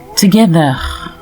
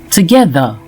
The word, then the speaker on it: together: Les mots finissant par ER, comme fever, together, les francophones auront tendance à les prononcer fever, together, en insistant sur le ER à la fin, et surtout le R. Plutôt, prononcez désormais ces mots ainsi: fever, together, fever, together.